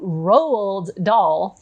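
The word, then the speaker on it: Roald Dahl: book was Matilda by rald doll am I saying that right Roald pronunciation roal do rolled doll okay so rolled doll the this one is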